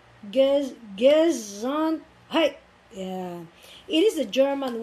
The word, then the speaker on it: Gesundheit: Gesundheit. This is a funny looking word which pronounced Gesundheit. Gesundheit.